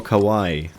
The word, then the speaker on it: Kawaii: a bit more seriously it's not that difficult to say Kawaii but um it's not like English speakers are doing a better job at that they also say Kawai the emphasis has to